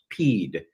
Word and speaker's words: PEAD: Executive Action Document, PEAD, hereinafter pronounced PEED, Presidential Executive Action Document, PEED, to suspend the counting of the Electoral College votes.